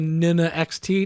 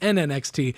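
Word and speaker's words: NN-XT: We come up with the advanced sampler, and we call it the Nina XT? No, we call it the NNXT.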